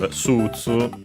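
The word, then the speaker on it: スーツ: And then we of course have Sutsu from English. Suit. We check its accent in the dictionary. Okay, accented on the su as expected on the first syllable, just like in English, Sutsu.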